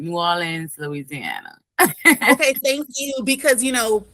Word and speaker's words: New Orleans: New Orleans, Louisiana.